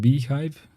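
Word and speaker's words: bhyve: the data Vladimir says bive the BSD hypervisor pronounced beehive is a hypervisor virtual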